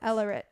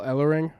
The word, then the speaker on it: Ellering: with the badass advocate of all advocates, Paul Ellering. Advocate of all advocates. Paul Ellering is one of my favorite advocates. Paul Oh my God. Everett. Alert? Everett. Paul Ellering. Ellerit.